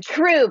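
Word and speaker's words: Trueve: And then, of course, as she mentioned, this business, Truva is how you pronounce it, T-R-U-E-V-E. Truve. It's a combination of true, like source of truth, and the French word trouvé, which means to find.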